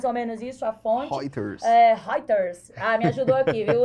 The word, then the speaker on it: Reuters: É até difícil, eu como pernambucana, pronunciar esse babado aqui, Reuters, acho que é mais ou menos isso a fonte. Reuters.